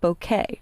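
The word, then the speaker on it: bokeh: now there's a lighting effect called bouquet and that's actually how it's pronounced and if you'll notice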